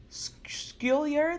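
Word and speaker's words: Schuyler: on Eliza wait wait we were named Eliza skill yer there we go Hamilton I need to go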